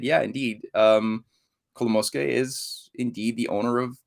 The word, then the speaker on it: Kolomoisky: Kolomoisky.